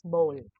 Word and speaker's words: bowl: this pronunciation is different for the toilet we say bao but this one for the food or water or something that we put in our mouth that is pronounced as bowl okay now this word